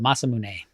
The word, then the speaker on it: Masamune: Uh Masamune. So you're correct. So Masamune.